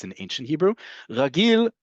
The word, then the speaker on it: רגיל: Ragil sounds like the word regular because it does mean regular or usual or normal.